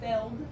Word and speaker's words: felled: not spelled the same it's not f-e-l-l it's f-e-l-d like a failed scene oh yeah and so